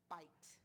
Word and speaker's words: bite: And now my word says bite.